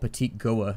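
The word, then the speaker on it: Petit-Goâve: I heard you guys said that down in the comments that this place was called Petit Goa, and so apparently I've been mispronouncing that for like the last decade.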